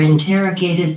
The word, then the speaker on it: interrogated: Ta nhấn vào cái âm số 2 và ta xoan tiếp theo, interrogated.